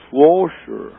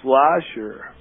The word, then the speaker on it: Schlosser: I mean, if you read it, it's the sh first and the s, so technically it's Schlosser. But well, you've pronounced it your way for a very long time. Well, I think the German is Schlosser. Oh. But the American Midwest is probably Schlosser.